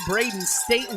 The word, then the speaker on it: Braden Staten: Braden Staten is the correct way to pronounce that name.